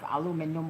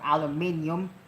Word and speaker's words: aluminum: This is a bolt nut right here made out of aluminum or aluminum depending on how can you pronounce that.